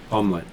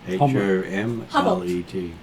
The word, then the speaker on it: Homlet: Omelette. Oh, how do you say it again? H-O-M-L-E-T.